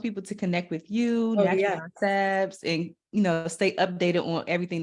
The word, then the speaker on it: NTRL by Sabs: It's at Natural by Sabs, but it's spelled NTRL by Sabs. No vowels.